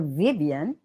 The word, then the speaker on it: Vivan: as f f okay so if I were to germanize the pronunciation of Dr Vivan all right I would say fifan so with an F fifan but usually as far as names are concerned we retain the original pronunciation that's how it is